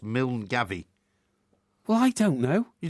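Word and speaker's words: Milngavie: uh place in Scotland m i l n g a v i e phonetically pronounced mil Gaby well I don't know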